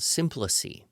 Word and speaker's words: symploce: time, you would get what is called simplice, and that's Symploce. That's the way I believe it's pronounced, but again, people could argue.